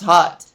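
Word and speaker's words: hut: call it hot it's it's pronounced hot but it's h u t it's for fashion you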